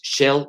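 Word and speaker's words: shale: esquisto o gas lutita que se llama en inglés shell gas se escribe s h a l e gas incluso Les recomiendo hay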